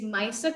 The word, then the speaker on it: Maisa: My name is Maisa. Maisa rhymes with Nisa, Nisa Maisa.